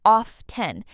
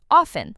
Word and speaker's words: often: Some learners pronounce the t clearly, often but a lot of native speakers say often with a silent t.